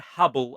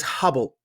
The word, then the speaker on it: Hubbl: no last week as Hubble now it's available in two formats uh what they're calling the Hubble Hub by the way Hubble is spelled HBL because the current they